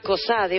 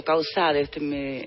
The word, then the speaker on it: Causade: Bien, Hoy nos acompañan en estudio la doctora Ariadna Cosade, o Causade, En realidad sería Cosade. Cosade, si fuera la pronunciación francesa, ¿no?